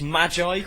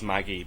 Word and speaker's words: Magi: cuz I remember when when I was hearing people call it Maggie I used to get really pissed I was like, "No, it's magi." You say it like magi. And then I watched the anime and it is it is Maggie because it doesn't mean the same thing.